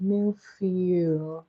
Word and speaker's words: Millefeuille: It's actually called milfeu. And I don't know if that's right spell and pronunciation. Milfeu is spelled Millefeuille.